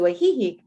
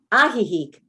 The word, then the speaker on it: Ajijic: when they moved to ajijic except oh it's not pronounced that ajijic mexico you can learn